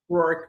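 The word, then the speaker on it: Rourke: So shortly after before Chris took the plea, the um DA or right, how you pronounce his name? Ror.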